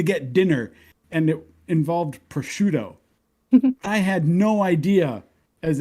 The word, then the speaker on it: prosciutto: But it's spelled like Proscuitto. Yeah. TTO. Yeah. Yeah. So I said proscuitto.